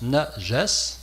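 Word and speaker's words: najas: mot-là nagesse parce que ce mot nagesse le voici ça se prononce naes N a J a S et ça a été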